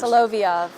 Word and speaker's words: Solovyov: Help me with the pronunciation here because my screen is not doing me any favors. Solovyov.